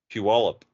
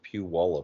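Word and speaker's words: Puyallup: just can't say it you got to get the wallup in there apparently that's what they say it's Pew wallup well there pe wallup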